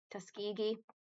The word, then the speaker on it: Tuskegee: The Tus um I never know how to pronounce this. Tus Tuskegee, that's how you do it.